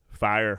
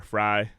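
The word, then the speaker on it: Fyre: You see like the Fire. Fry No, fire. Fire. Festival. Yeah. Fire Festival. It's just spelled with a Y, though, but I know Yeah.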